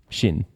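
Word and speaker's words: Sinn: spelling It's s i n n I know Shin Shin would in Chinese clearly have been spelled with the English H all right question number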